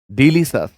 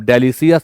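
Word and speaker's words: delicious: The shop test डिलीशियस, कैसा लगा भाई, टेस्ट कैसा है उसका, तो डिलीशियस है। अब डेलिशियस मत पढ़िएगा, गलत है प्रोनाउंसिएशन, डिलीशियस।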